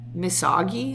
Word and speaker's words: misogi: I want to see if I can pronounce it correctly. Misogi.